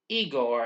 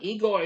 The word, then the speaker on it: Igor: Upon hearing that the professor pronounces his name Frankenstein, Igor insists that his name is pronounced Igor rather than the traditional Igor.